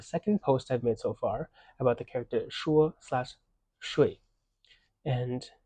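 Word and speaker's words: 发: This character is pronounced fa or fa and has different meanings. If it's pronounced with the first tone, fa, it means to send. If it's pronounced with the fourth tone, fa, it means hair.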